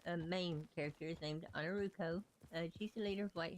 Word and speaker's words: Ainurauco: streams before, I am Ainurauco. Everybody says my name completely wrong because in their brains the A and the O should be switched for the way I pronounce it, but it's Romanian.